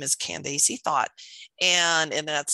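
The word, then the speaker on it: Thoth: For those of you that are wondering who we're talking about, her name is Candace Thought. And that's spelled T-H-O-T-H.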